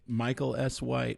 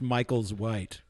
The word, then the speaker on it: Michael S White: how do people get in touch with you Michael S white or Michael S white and by the way it's not pronounced Michael's white it's Michael S white on Twitter all right